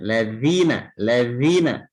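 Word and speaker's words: الذين: Halus mengucapkan ujung lidah kita menempel ke gigi di atas. Ya, ladzina.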